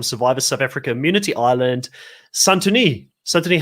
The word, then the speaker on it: Santoni: name the whole season apparently i've been pronouncing or santini i don't know what